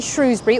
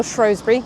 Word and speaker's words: Shrewsbury: And at the back of the book is a Shrewsbury or Shrosbury depending how you want to pronounce it.